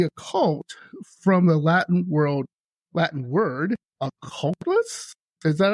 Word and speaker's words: occultus: So the occult, from the Latin word occultus, is that how you pronounce it?